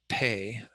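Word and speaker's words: phaṭ: recite the wrathful mantra pay the h after the p doesn't make it an f sound it makes it an aspiration with the p so it's a p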